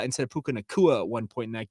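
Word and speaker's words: Nacua: Lorenzo fawatoa instead of fawatea we had a puka nikoa instead of Puka nakua at one point in that game and then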